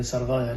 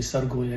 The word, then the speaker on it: سرغايا: التي تعني المنطقة المرتفعة، مثل منطقة سرغويا اللي بيقولوها هن سرغايا، لكن الفلاحين بيلفظوها تماما مثل ما تلفظ بالكردي سرغويا، يعني رأس الدغل.